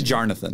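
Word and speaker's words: Jornath: And it's spelled J-O-R-N-A-T-H. It's actually Jonathan.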